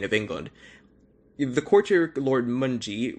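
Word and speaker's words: Mountjoy: england the quarter lord munji which is how you say it i know it it's it sounds like mountain joy yeah but it's moji i believe spoke for everyone when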